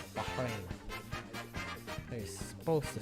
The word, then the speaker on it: Bahrain: And also, if you don't know, when you're pronouncing Bahrain, you have to pronounce the H a little bit more. Bahrain. Bahrain.